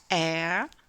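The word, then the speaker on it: heir: Autre exemple où le la lettre H ne se prononce pas. Air donc air un héritier.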